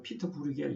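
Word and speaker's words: Pieter Bruegel: 그런데 이 그림은 피트로 브루엘이라는 사람은 앞에서 얘기한 그 보시고 사람보다 약간 후대 사람입니다. 16세기 초반 네덜란드 화가인데 보통 우리가 피터 브루겔 이렇게도 발음을 하는데 그 신화를 가지고 추락하는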